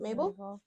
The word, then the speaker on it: Mabel: was at Mabel yes is that how you pronounce it Mabel m a b e l yep yeah a